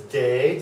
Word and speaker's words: D: that sound say uh this one is day just like good day this one is a